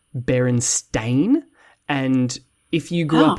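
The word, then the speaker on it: Berenstain: barenstein Bears um and if you were to ask basically anyone who grew up in the states to spell that they would spell it b r n s t e i n barenstein yeah um but it's actually spelled Baron stain and if you grew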